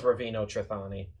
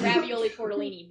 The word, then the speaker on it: Ravino Trani: to his character name my character's name was ravino trani and so she he made it I couldn't say his name right I said ravioli talini but in a guy's voice it sounds like this